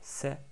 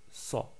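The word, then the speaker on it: صَ: Donc on ne dit pas c'est, mais sa.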